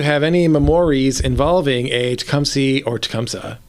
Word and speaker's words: Tecumseh: Park do you have any memories involving a t comy or tumsa how do you pronounce it Tumi or tumsa okay so it's supposed to be tumsa okay but anybody who lives here pronounces it wrong and that's right love that